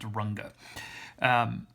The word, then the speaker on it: Runge: called a runge-kutta method that's pronounced runga and the number m